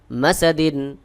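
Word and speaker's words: مسد: ফিজিহাম scene দাল দুইদিন মাসাদিন হাবলুম দালে দুই রয়েছে এখানে ওয়াকফ করব করলাম করার কারণে দুইজের সাকিন হয়ে গেল সহি উচ্চারণ হলো মাসাদ এখানে দেখুন আমি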